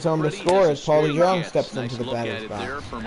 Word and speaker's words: DeJong: I know I say it wrong when I say Jong. It's Paul DeJong, but you know I just have fun with it.